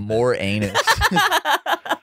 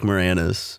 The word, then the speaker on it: Moranis: got rick morena says i didn't mean to say his name like more anus rick moore anus that's nice yeah rick moranis okay i always say rick